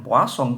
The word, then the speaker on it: Poisson: Nah, ini ya, ini bacanya Poisson.